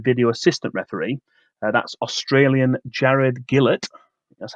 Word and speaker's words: Gillett: That's Australian Jared Gillett. That's how you pronounce it.